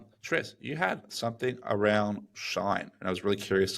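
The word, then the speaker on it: Shein: Tris, you had something around Shine, and I was really curious to learn more about what you found here, or Sheen, Around however you pronounce it. Sheen, yeah. So I was reading the other day.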